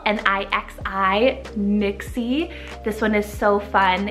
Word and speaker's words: Nixi: Nixie, spelled N-I-X-I, Nixie.